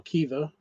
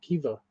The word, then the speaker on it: Caoimhe: Quiver or Kiva. That one's spelled Caoimhe. The fuck are they doing? The fuck are they doing? That does not sound like Kiva.